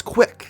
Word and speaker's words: CWC: of Quick's pokes site CWC are the initials of Christian's full name which he is unusually proud of due to its ability to be pronounced as quick this web page would